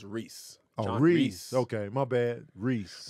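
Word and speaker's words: Rhys: rock the dwarf gimle oh it's pronounced Reese Reese okay my bad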